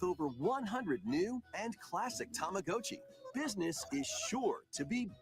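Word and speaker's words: Tamagotchi: even I didn't even know tamagachi was still a thing and apparently it's tamag GOI yeah I guess we've been saying it wrong for 30 years yeah we getting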